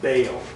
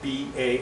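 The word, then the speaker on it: Baal: the word the names B well usually people pronounce it Bale b a a l okay they'll say ba it's actually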